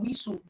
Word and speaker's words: whistle: You know that the t is silent.